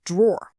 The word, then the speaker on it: drawer: You instinctively hear that one syllable sound when you read that, don't you? Top drawer.